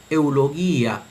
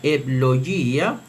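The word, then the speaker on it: εὐλογία: pronunciación erasmiana se leería eulogía, eulogía, mientras que en la pronunciación reocliniana sería eblogía, eblogía o eblogía, pero eblogía, eblogía.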